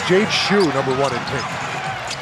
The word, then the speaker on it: Jade Shu: We confirm the pronunciation of his name. It's Jade Shu, number one in pink.